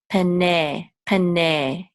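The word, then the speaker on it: פני: This nun with tzera will say pene.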